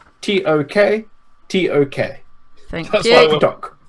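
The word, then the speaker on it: Tok: Doc. Like Tuck Tuck, but with more O's and less U's.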